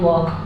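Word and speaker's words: walk: नाउ अब यू कैन वक यू मतलब तुम कैन मतलब सक्ति वक मतलब चल सकते हो के के पहले एल हो तो हमेशा साइलेंट रहता है तो तुम अब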